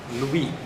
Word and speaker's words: Louis: Louis. Você não pronunciou essa.